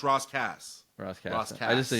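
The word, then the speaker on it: Ras Kass: It's but it's pronounced Ross Cass his his first album assassination.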